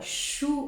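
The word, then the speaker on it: 书: Parce que le livre shu en chinois, qui a la même prononciation que shu, défaite, la perte en chinois.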